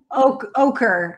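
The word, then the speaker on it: Oquirrh: Ochre.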